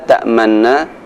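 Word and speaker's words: تَأْمَنَّا: Ada sedikit monyongnya ketika kita membaca lafaz la ta'manna, yaitu contohnya lafaznya berbunyi Qalu ya abana ma laka la ta'manna ala Yusuf.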